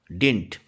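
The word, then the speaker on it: didn't: तो डिड का नेगेटिव क्या हो जाएगा, डिंट। तो ये डिंट या डिडंट दोनों तरीके से प्रोनाउंस करते हैं इसको।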